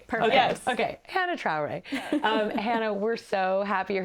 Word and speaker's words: Hannah Traore: The reason I said that is because I wanted to pronounce Hannah's name correctly. So then I said, Trana Traore. Yeah, Hannah Traore. Perfect. Okay. Yes. Okay. Hannah Traore.